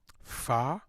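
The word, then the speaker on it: phở: Starting around Thanksgiving, we did a pho. I've been told that's the proper way to pronounce it. Pho? With a little lilt. Like it's a question.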